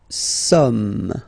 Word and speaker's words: sommes: Okay, nous sommes. Okay, so you don't pronounce the final S here, it doesn't exist.